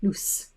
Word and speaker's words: loose: So pronunciation-wise, the pronunciation of that one is Z, lose, and the pronunciation of that one is loose.